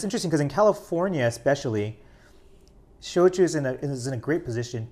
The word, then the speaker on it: shochu: So shochu is the Japanese pronunciation.